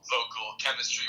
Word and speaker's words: Voquel Kemistry: so the listeners is aware the the name is spelled v o q u e l vocal chemistry with a k um and we just kind